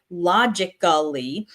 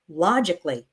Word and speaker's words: logically: So the word logically we don't say logically the A is silent. We say it more like logically.